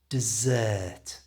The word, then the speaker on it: dessert: with sand a desert but desert which is a suite at the end of a meal has the ER stretched out so it sounds like this dessert you try let's hear